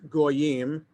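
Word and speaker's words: גוים: So in the Torah, it's spelled Gimel Yud Yud Mem, no vowels. That's how it looks in the Torah. But we're supposed to read it as Goyim, Gimel Vav Yud Mem, with the vowels.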